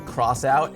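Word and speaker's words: X-Out: the classic Amiga game cross out it looks like X out it's actually pronounced crossout it's being remade for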